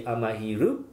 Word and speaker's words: Amahiru: sorry i just made the way would be pronounced in japanese or written would be amahiru so then i checked on internet if that